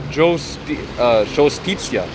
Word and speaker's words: Giustizia: Next one, it says modern Italian pronunciation, Giustizia.